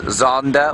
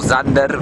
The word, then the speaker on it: Xander: He is known as Zander or Zander by his family. That's spelled X-A-N-D-E-R.